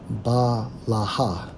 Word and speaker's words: Bilhah: Strong's H 1090, pronounced as Balaha.